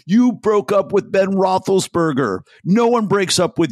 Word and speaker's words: Roethlisberger: wrote him page six that uh that Ben Roethlisberger is that pronunciation correct right yeah sure for Trump yeah